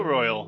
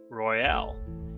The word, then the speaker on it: Royale: I royal national park. Or is it Royale? Potato Potato according to the park rangers, but I'll pronounce it how they pronounce it.